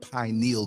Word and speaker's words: pineal: just want to say it's pronounced pineal, not pineal, okay? It sounds so ignorant when I hear people say pineal. It's not a needle, it's a gland, pineal, okay?